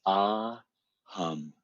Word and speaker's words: Ah Hum: And it's two syllables, ah, hum, ah, hum. The breath comes in. It's just silently in the mind. as the breath is going, as it comes in, and hum as it goes out.